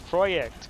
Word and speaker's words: Projekt: Because it's Polish. It's Projekt. God damn it. It's the Polish spelling.